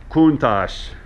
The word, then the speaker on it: Countach: This car is pronounced Countach. Some dialects, Countach. Okay, but Countach is the general preferred way to say it.